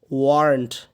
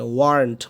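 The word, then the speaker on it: weren't: short করতে পারি short করে কি বলতে পারি ওয়ারন্ট কি বলতে পারি এই উচ্চারণটা কিন্তু অনেকজন পারবেন না ভালো করে শুনেন বারবার শুনে ওয়ারন্ট বলেন ওয়ারন্ট ওয়ারন্ট ওয়ারন্ট ওয়ারন্ট এইটা লাস্টে ওয়ারন্ট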